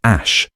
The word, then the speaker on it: Æ: While he regarded on the Joe Rogan experience, he stated that the AE component is pronounced ash at the same time as the A12 component.